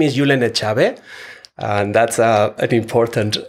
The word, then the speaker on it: Julen Etxabe: wonderful my name is yulena chabe and that's a an important uh probably for people to know how my name is pronounced it's a basque name and I'm an assistant